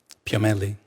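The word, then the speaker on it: Piomelli: Dani Ellie how do you say your name sir Danielle last name p.m. italy oh thank you your professor of anatomy and neurobiology your University of California Irvine dr.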